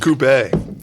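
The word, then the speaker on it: coupé: And Coupe, depending on how you like to pronounce it. Yeah, there's a little accent mark over the E. Really? There should be. Well, yeah, the Brits call it a coupe, and we call it coupe.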